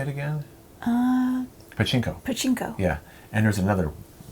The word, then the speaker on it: Pachinko: So this is based on, is it Kaplinko? How do you say it again? Pachinko.